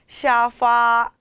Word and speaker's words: 沙发: 샤파, 샤파. 네, 발음이 쇼파와 비슷하지 않나요? 쇼파, 샤파.